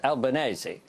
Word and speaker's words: Albanese: OK, Christopher Pyne actually got it right in terms of the Italian pronunciation. It's Albanese. But you don't say spaghetti bolognese, do you?